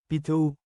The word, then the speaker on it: pito: pronounce it as anim p t o is seven in Tagalog change I to the American letter e then pronounce it as P2 good job everyone let's